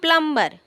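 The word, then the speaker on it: plumber: Next आता है, यहाँ देखो, the word प्लम्बर is pronounce as प्लम्बर, the letter B silent, silent, उसको प्लम्बर मत बोलना, प्लम्बर बोलना।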